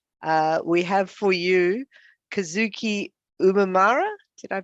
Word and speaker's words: Kazuki Umemura: returning the favor uh we have for you kazuki umamira did i pronounce it correctly you're saying right yep fantastic